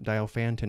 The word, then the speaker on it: Diophantine: Welcome to a lesson on solving linear Diophantine equations. I've also heard this pronounced Diophantine equations.